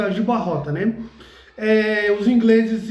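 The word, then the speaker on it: Aljubarrota: Alguns chamam Agiborra, tanto faz, mas o nome da pronúncia no português é Agibarrota, né?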